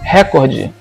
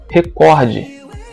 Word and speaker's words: recorde: chamado de silabada primeiro primeira palavra recorde muita gente fala record quando na verdade não é uma conta é prefere a pronúncia recorde íbero envie ibero que